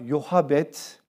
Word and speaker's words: Yokebed: Yokabet ya da bir diğer telaffuzuyla Yohabet.